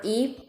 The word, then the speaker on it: 一: 一百一千一万 There are special rules for E. So when E followed by the first, second, third, or neutral tone, it's pronounced as E with the fourth tone. E. For 100, it's 一百. And when E followed by the fourth tone, it's pronounced as E with the second tone.